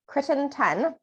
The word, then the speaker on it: Crittenton: president and CEO of a nonprofit organization called Crittenton.